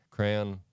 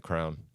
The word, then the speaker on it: crayon: crane oh no no not crane crayon crayon um yeah those are the two most popular ways to say it I want you to take a guess as to how I pronounce it crayon nope how do you say it it's a crown what Conor Conor you call it a crown yeah you draw with crowns yeah when I was